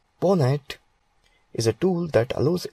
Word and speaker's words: pwnat: PWN pronounced as PONET is a tool that